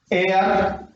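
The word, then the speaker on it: heir: एयर, यहां पर देखिए ये वर्ड प्रारंभ हो रहा है एच से, लेकिन first sound of pronunciation A, एयर, तो यहां पर यूज करेंगे हम एन।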